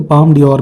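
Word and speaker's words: Palme d'Or: ठीक है, तो ये एक कैटेगरी है पाम डी और, बेसिकली ये फ्रेंच प्रोनाउंसिएशन है, इंग्लिश में इसको बोलते हैं ये गोल्डन पाम।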